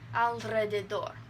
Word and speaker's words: alrededor: And then, this is kind of tricky, after a consonant in the second syllable. So, alrededor. I'm exaggerating it so you can hear it.